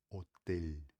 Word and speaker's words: hotel: E o jeito certo seria falar hotel, tá? Qualquer palavra, tem bastante palavra em português e espanhol que se escreve do mesmo jeito e termina com ele, tá? Então você precisa praticar para você falar aquele L, tá? Do jeito que nós falamos, beleza?